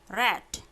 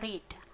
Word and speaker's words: read: I maka memakai have diikuti kata kerja bentuk ketiga read. Meskipun ini penulisannya sama dengan bentuk pertamanya, tapi cara bacanya beda. Kalau bentuk ketiga itu bacanya read, kalau bentuk pertama read.